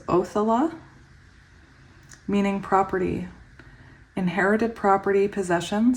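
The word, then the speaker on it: Othala: thankful for because I have a fear of mispronouncing words so it's othella meaning property Inherited property possession so we did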